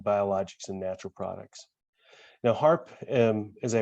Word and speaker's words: Harpe: path by being biologics and natural products now harp as i pronounce it seems a little bit strange that